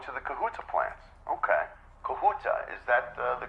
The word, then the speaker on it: Kahuta: Kahuta, is that the correct pronunciation?